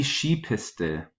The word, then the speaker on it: Skipiste: Next word is die Skipiste. Die Skipiste. The plural is die Skipisten. Die Skipisten. Make sure that you're pronouncing S-K-I, not as ski, like in English, but she has kind of the SCH sound.